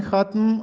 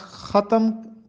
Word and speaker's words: ختم: عمر جس کی جوانی ختم اور بڑھاپے کا آغاز ہو۔ ہم لفظ ختم پڑھتے ہیں، جبکہ درست تلفظ ہے ختم۔ ختم پڑھنا چاہیے، ختم نہیں پڑھنا چاہیے۔ نیکسٹ لفظ